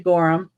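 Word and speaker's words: Gorham: You can say gorum. Gor gorum. Yeah, they just spell it with an H, but they say Gorum.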